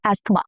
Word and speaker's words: asthma: Asthma, not asthma, asthma. Even for Indian English, asthma.